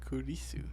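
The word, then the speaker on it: クリス: like so Chris turns into Kyu kisu kisu kurisu yes exactly so like it would be Watashi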